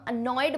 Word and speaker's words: annoyed: जब तुम अनॉयड बोलोगे ना तो बोलने पे भी ध्यान रखा करो, न पे ज्यादा फोकस है, न पे ज्यादा स्ट्रेस है, अनॉयड।